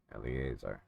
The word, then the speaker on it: Eleazar: Children of Israel inherited in the land of Canaan, which Eleazar the priest Eleazar, that's how you pronounce it.